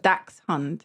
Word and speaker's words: dachshund: in this okay pronunciation Google pronunciation it says Dax hunt that's dachshund yeah yeah